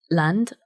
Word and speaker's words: Lande: I saw the exhibition Land. I've mispronounced that, it's a French word, but I'm going to say it in the English way. Land, it's spelled Lande, about the Calais jungle.